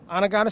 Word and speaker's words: Onondaga: Now, you're originally from New York, and you went to Onondaga Central High School. Did I say it right? Onondaga Central. Onondaga Central, and you was one of the top-rated running backs coming out of New York.